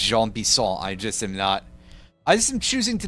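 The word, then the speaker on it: Jean Bison: Alright, now we gotta go find Gene Bison over here in his house. And by that I mean his name is actually pronounced Jean Bisson.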